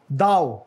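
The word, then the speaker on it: thou: एयर, और ये क्या है, होलियर देन दाओ, दाओ नॉट दो, होलियर देन दाउ, यानी मैं आपसे ज्यादा मुकद्दस हूँ, अपने आप को सुपीरियर समझने का जो रवैया है.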